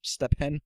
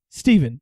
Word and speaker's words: Stephen: a name tag, and the guy said my name wrong 5 times. Stefan? It was, yeah. He was like, yeah, because my name is spelled with a PH. So he said, Stepan? Stefan? Stefan? Stefan? Steven. And I was like, Steven, yeah, you got it.